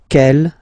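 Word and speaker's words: quelle: q l l but it's pronounced like the masculine form Kell at the masculine Kell at the feminine okay so it's basically same pronunciation okay and then here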